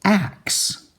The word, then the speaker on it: axe: is Axe Axe and our short vowel a goes a a and our X goes and our e is silent it doesn't make the a say its name it just sits there doing nothing axxe axe axe axxe